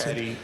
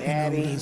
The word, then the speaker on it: Addie: Eddie, to be followed by Larry Ross. Por Larry Ross. Good afternoon. Buenas tardes. My name is Addie, and it's spelled A-double-D like David